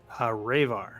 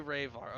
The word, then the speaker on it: Ravar: Is it Reaver or Raver? Ravar. You'd say Ravar. Okay. It's an intentionally misspelled and mispronounced Reaver.